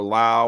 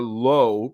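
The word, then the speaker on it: Lowe: a movie saysi think Josh and Nathaniel are low pronounced like Pro and Brandon is the one that's pronounced la like in cow why isn't the phonetic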